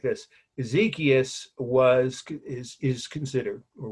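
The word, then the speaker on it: Exekias: last or her last name so this is ezekiel we know who he was i'll explain in a minute and that's spelled e x e k i a s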